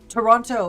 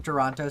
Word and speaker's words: Toronto: Your friend from Toronto says they can you can tell who is and isn't from Toronto by the way they pronounce it. I mean, that makes sense cuz obviously Americans are going to have a different accent and then like other parts of Canada are like way more French. So, people not from Toronto pronounce the second T. Toronto.